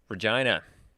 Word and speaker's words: Regina: of an on-the-go machine regina amazing the city that rhymes with fun a little bit of